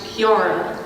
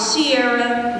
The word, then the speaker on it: Kiara: For those of you who don't know me, my name is pronounced Kiara. Not Sierra, not Chiara, Kiara. With a, not a soft C, a hard C.